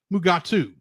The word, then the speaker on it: Mugato: McCoy, could not pronounce the word Gumato, so it was changed to Mugato, which Kelly and William Shatner proceeded to pronounce Mugatu. However, Janos Prohaska was credited in the episode as Gumato.